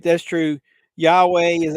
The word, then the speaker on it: Yahweh: Yahweh is how you pronounce it, but I'm in disbelief you're quoting all this yet.